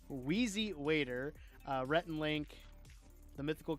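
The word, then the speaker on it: Wheezy Waiter: Weery waiter. Wow, that was a hor that was a horrible pronunciation. Whezzy Waiter, uh, Retin Link, The Mythical Kitchen, Try Guys.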